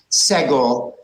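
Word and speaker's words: סֶגּוֹל: and actually it's pronounced Sego because this is a very strong vowel and it often takes the accent and lastly but not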